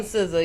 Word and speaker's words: SZA: Okay, so I love, how do you pronounce her name? SZA, S-C-A? SZA, yep.